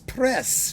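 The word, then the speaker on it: Prez: 16th with Jan Josan Des press de pre however you want to pronounce him Josan everyone just calls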